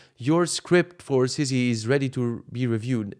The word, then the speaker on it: Sissy: This is how you say Sissy. Sissy is being called Sissy. Sissy, use Sissy in a sentence. And then in the doctor write, Sissy rhymes with city.